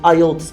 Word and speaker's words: IELTS: de la note heinz prononcer ayotte et non pas y est s y est une erreur de prononciation pour en état des